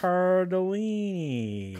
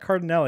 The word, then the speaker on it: Cardellini: Mark Wahlberg, and Linda Cardellini. Cardellini. It's not Cardinelli because it's not an E-N before Cardellini. the E.